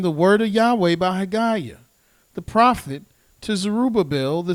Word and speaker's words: Haggai: Here, if you go to the book of Haggai, or Haggai, we're going to go to the first chapter of Haggai.